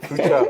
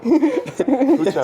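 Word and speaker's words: Fluxa: Ah, c'est basque ça. Flucha. Flucha, c'est ça. Lucha, Ah, ouais, moi je connais, c'est basque. Quand il y a des X, c'est forcément basque. Luna Flucha aussi, mais elle est t'as dit comment?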